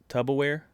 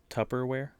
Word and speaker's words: Tupperware: guy didn't know it he pronounced it uh i think it was tub tubberware but it's actually tupperware somebody fact checked me